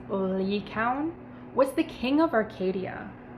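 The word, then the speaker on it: Lycaon: arcadia in greek mythology lycion or it's actually pronounced lee coun was the king of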